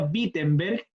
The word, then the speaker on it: Wittenberg: cuarenta como se llama la iglesia peter se pronuncia wittenberg pero se escribe con w a los alemanes